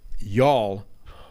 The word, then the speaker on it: y'all: text and phrase but my wife says you have to put the emphasis on the why like a long u phonetically it's like you all with a deep throat you before emphasize why right before all I know